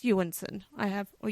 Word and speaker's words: Jonsson: name is yanson anyone looking at his name it looks like Johnson j o n SS o n like whatever but it's yanson I have or Y